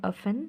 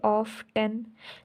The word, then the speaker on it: often: तो अगर उस तरह देखा जाए तो हमें तो इसको ऐसे बोलना चाहिए ऑफ 10, लेकिन यहाँ पर हम इसको क्या बोलते हैं, ऑफन, OFEN, ऑफन। टी को हम क्या कर लेते हैं, साइलेंट कर लेते हैं।